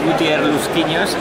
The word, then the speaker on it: Gutier Lusquiños: pronounce your name uh well my name is gutier linos pronounce it in the Spanish in the Spanish way and I'm one of